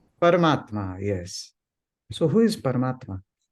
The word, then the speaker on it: Paramatma: questions is one word param Atma or when combined how do we pronounce this word parmatma yes so who is